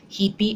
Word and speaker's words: hipi: So watch out with the vowel change. That's why it's very important you know the pronunciation, because it's going to change the meaning. Hipi ug hepe.